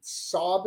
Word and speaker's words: Xob: It's XOB. Sob is how we pronounce it.